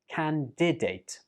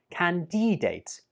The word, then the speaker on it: candidate: Candidate. Some students use a long E sound on the second syllable and pronounce it like candidate. But that's incorrect. It's better to say candidate.